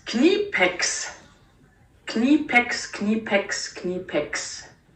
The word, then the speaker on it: Knipex: so Jenny how do we pronounce it definitely it is pronounced knee pix can you pick skinny pics okay that's pretty